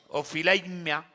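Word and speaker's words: ὀφείλημα: aquí aparece una palabra del griego que se pronuncia ophileimia, que significa salario o pago.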